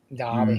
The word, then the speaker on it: Derby: it's Derby but that is the way it's pronounced Derby Darby it is yeah feel forgetting it right especially